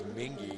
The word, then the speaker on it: Mingi: pronounce his name correctly it's not M it's mingy he's down there throwing